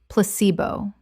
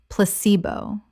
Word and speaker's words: placebo: men-stru-a-tion menstruation Word 66 placebo common mispronunciation placebo correct pronunciation pla-ce-bo The stress is on the second syllable. C example The placebo effect